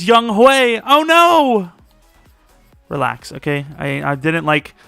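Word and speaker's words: Younghoe: can't make rebuilds anymore i said young ho which is how it looks but it's young hue oh no relax okay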